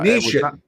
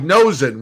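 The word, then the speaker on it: Noesen: But Nishin, I think is how you say his name. The way it's spelled, it looks like Nosen, which is really funny.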